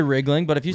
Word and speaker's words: Riegling: It's like a truck, and then ling, like Anything. anything, like ring, like ring-a-ling, It's like Riegling. Riesling, like the wine, but with a G.